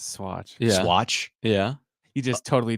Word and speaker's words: Swatch: do you say that watch no no s SW a TC how do you say that yes it's Swatch Swatch yeah you just totally dated Yourself by